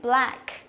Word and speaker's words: black: Thế còn cái này cũng thế, black, nó là âm e bẹt nữa.